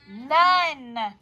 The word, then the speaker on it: none: None. Clap it out. How many? Oh, this is also a thinking word. We have to think known, but we say none.